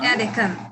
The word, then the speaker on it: Deccan: Going back to Sushmita, let's, before talking about Deccan, am I pronouncing it correct? Yes, Deccan?